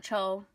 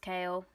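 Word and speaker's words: Chaol: he's cool Kael but it looks like coal or coal apparently pronounced kale I think coal sounds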